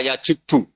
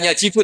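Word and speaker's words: يجبّ: Itu bacanya bukan yajibu tapi apa? Yajibu yaq lah.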